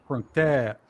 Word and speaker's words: กรุงเทพ: กรุงเทพ Krung Thep.